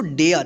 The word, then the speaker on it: dare: यहां पे देखिए DARE क्या पढ़ेंगे इसको डेयर, देखिए ए के जस्ट बाद RE है लास्ट में, ठीक है।